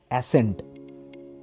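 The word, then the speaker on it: ascent: number seven কি আছে অ্যাসেন্ট এখানে অ্যাসেন্ট ওয়ার্ডটাতে আমাদের যে সি সাউন্ডটা আছে সেটা সাইলেন্ট থাকবে এস সি টা সাইলেন্ট ই এন টি কি উচ্চারণ করবো অ্যাসেন্ট ওকে নেক্সট ওয়ার্ড কি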